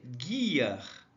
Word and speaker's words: gear: desse jeito aqui ó e a pronúncia Guar Guar Ok então Guar é